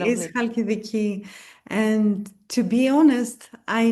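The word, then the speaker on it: Halkidiki: And then where you're from, how do you pronounce it? Is it Hal Haladiki? Halidiki. Yes, Hadiki. Okay. Lovely. Is Halidiki.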